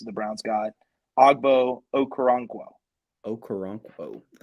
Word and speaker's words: Okoronkwo: I pitched this idea a couple days ago because Christian had a hard time pronouncing one of the new players the Browns got, Ogbo Okoronkwo. Okoronkwo.